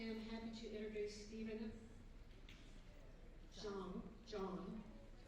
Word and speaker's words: Zhang: I am happy to introduce Stephen John. It's Zhang, and it's pronounced John.